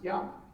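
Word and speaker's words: 山: That's because it's pronounced yama. Yama in Japanese.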